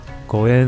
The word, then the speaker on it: ご縁: 因为日文中的五元跟缘分 Goen 的发音是一样的。